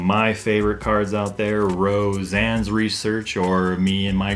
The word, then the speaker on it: Roseanne's: me and my group, we like to say Roshan's, because I don't know, for some reason I just like to mispronounce all the names on these supporters just for fun, because I don't know.